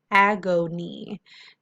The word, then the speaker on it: agony: It is closed, ag, open, o, open, knee, whole word, agony, agony. This is a part where we hear the schwa sound, agony, agony.